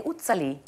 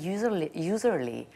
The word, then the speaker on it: Uzerli: You know that the Germans are saying Utsali. Utsali. Utsali. It's like from Switzerland. And I'm saying, no, it's not from Switzerland. Okay, fine. But and in America, they are saying Uzerli.